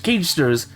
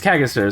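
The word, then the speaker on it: Cagaster: of it but it's it's like c-a-g-e-s-t-a-r kagisters that's how they pronounce it it's not cash cage stirs it's kaggasters and it's something about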